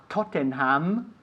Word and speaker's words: Tottenham: Valencia beat Liverpool to new yay fantastic okay Tottenham Tottenham no problem with Tottenham five Nils it's